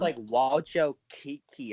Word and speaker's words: Wojcicki: Apparently it's pronounced Walcho Kiki or something like that.